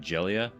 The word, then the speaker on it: Jayla: appears are all different her pronunciation sounds a lot closer to Julia but a little bit more like jellia the first time we saw it it was spelled j Jayla j a y l